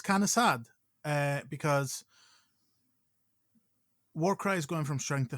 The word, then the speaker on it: Warcry: Warcraj. No, it's. I'm pretty sure it's Warcry. It's definitely Warcry. It's pronounced Warcry, but yes, we all know how it's spelled.